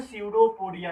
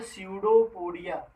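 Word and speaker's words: pseudopodia: कूटपाद या जो है सीडोपोडिया कहते हैं। क्या कहते हैं बेटा? कूटपाद या जो है सीडोपोडिया। यहाँ पर पी साइलेंट होता है।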